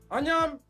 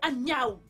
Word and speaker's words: Anyaou: Arrête de m'appeler Anyam. Mon nom, c'est Anyaou. Nous vivons ensemble depuis tant d'années et tu n'es pas capable de prononcer mon nom correctement.